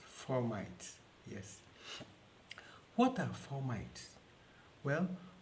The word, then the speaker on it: fomites: they are called formites some people pronounce their formats well for the purpose of this presentation i'll be pronouncing it as formites yes what are formites